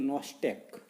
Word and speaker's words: Nostoc: पाहता की microwaves such as ॲनाबिएना, नावं नीट लक्षात ठेवा, काय सांगते मी स्पेलिंग प्रमाणे त्या ठिकाणी आपल्याला उच्चार करायचा आहे. ॲनाबिएना हा पहिला त्या ठिकाणी मायक्रोवेव्ज आहे. त्याच्यानंतरचा दुसरा आपल्याला सांगता येईल नॉस्टॅक, NOS काय आहे NOSTOC,